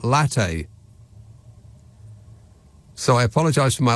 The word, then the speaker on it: latte: He indignantly raised his chin and said, it's pronounced latte, not latte.